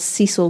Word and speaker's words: Cicel: It was after Francis had built this flourishing business that he got married to Brodie's mother, who was called Cecil Grant. But it's spelled Cicel.